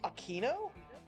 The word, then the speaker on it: Aquino: Dahlia just said her last name is pronounced Aquino?